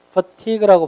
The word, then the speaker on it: fatigue: fatigue는 피로고 fatigue라고 발음하는 거예요.